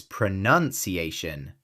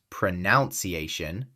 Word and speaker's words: pronunciation: It's pronunciation, not pronunciation.